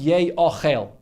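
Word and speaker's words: יֵאָכֵל: So the way it's pronounced is Yei Ochel, but the way it's written is Yoichal. Because if you pronounce it Yei Ochel, it should really be with two yuds, Yei Ochel. But it's only written with one yud, so you spell it, so the spelling is Yoichal. So what's the difference between Yei Ochel or Yoichal?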